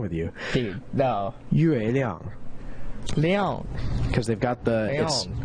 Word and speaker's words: Yueliang: So how that's spelled, Yueliang, is literally the pinyin spelling of the Chinese word for moon, and it would be I believe it's Yue Liang.